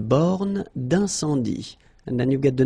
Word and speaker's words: borne d'incendie: Une borne d'incendie. Okay, final E here not pronounced. Final E here not pronounced. Une borne d'incendie.